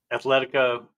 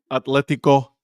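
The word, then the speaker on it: Atlético: Athletica. I was I was going to say it wrong. Atletico Atletico Madrid.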